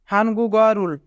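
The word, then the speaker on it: 한국어를: এখানে গিয়ক বাচ্চিমের পরে ইয়ং থাকার কারণে গিয়ক বাচ্চিমটি ইয়ংয়ের স্থানে যাবে, তাই উচ্চারণ হবে হানগুগারুল।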